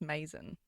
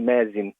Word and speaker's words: Mazen: I think it's Mason. Is it Mason, is it? Is it Mason? Oh, it's amazing is how they pronounce it when I first started school, but it's actually Mazin.